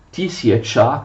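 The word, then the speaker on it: тисяча: Si scrive così, ma si legge Tisiacha, che vuol dire i mille.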